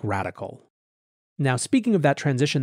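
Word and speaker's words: Radkl: individual capacity in a firm called radical although it's spelled r-a-d-k-l it's a quant trading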